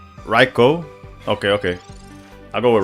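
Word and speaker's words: Raichu: The Japanese pronunciation for Reichu is Reicho.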